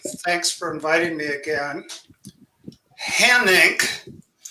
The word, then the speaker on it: Hanink: Hanink is not a household name, but it rhymes with my financial condition, red ink.